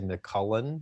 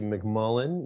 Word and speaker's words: McMullen: she said it right a lot of people if they just read it really quickly they say mccullen you know which i'll take it whatever it's fine it's actually mcmullen you've been really good